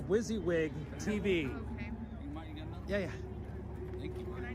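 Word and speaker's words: WYSIWYG: uh wizzywig tv yep what you see is what you get is pronounced wizzywig tv yeah yeah can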